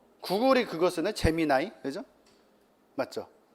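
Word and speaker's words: Gemini: 뭐 구글이 그거 쓰나 재미 나이 그죠 맞죠 재미이라고도 하고 재미 나이라고 읽죠 재미 나이라고 읽더라고요 근데 이제 구글도 있고 뭐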